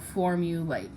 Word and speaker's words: formulate: Okay, so when you have a vowel consonant E, you cross out the E because it is silent, and then A, says its name in late.